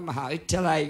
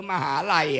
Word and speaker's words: มหาวิทยาลัย: ก็ เป็น อันตราย นะ อย่าง เช่น มหาวิทยาลัย เมื่อ ก่อน อ่าน ว่า มหาวิทยาลัย ก็ ยัง ดี นะ เดี๋ยว นี้ เกลือ เือ มหาลัย อ่ะ มหาลัย แปล ว่า ฉิบหาย